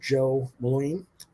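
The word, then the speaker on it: Jo Mullein: in just a little bit that's a sojourner Joe Moline and that's how it's pronounced but she is a new character for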